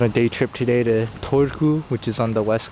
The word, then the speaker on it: Turku: Okay, so I've arrived at Turku and had to take a little deviation and